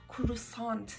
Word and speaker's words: croissant: Şimdi geldik üçüncü öğreneceğimiz şey olan bizim kruvasan dediğimiz Amerikalıların da croissant şeklinde telaffuz ettikleri şeye.